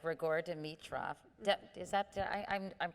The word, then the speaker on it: Grigor Dimitrov: But I know you dated a number of professional athletes, like Grigor Dimitrov. Is that, I'm pronouncing these names No, that's correct?